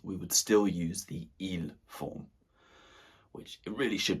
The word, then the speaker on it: ils: Okay, first of all, we have the masculine form, which is il. Il. Again, not pronouncing the S unless the following word begins with a vowel.